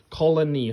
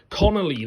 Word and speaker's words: Connelly: Jennifer Colony, I think that's how you say her name. Jennifer Connelly. Connelly, that's how you say her name, isn't it?